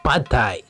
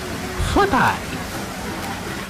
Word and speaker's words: Pad Thai: Ito ang Pad Thai. Alam nyo ba na ito ang national food ng Thailand? At ang tamang pronunciation nito ay Phat Thai.